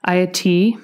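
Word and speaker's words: Ayiti: It's from her collection called, I had to look up how to say this so I didn't sound like a jerk, Ayati, which means Land of High Mountains.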